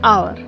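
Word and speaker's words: hour: Example an apple an आवर because the एच is silent an honest person.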